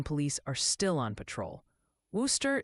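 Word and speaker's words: Wooster: Worooster is apparently Worcester, rhymes with rooster, not and Masselin is Masselin.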